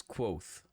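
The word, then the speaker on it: Kote: chronicler my name is quoth pronounced nearly the same as quote quoth names are important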